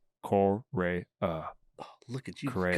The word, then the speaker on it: Correa: And I learned that I still cannot pronounce his last name. Correa. Oh, look at you Correa. go. Correa.